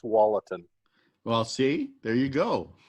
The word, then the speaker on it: Tualatin: sure up here and i think it's generally pronounced tualatin well see there you go it's like everybody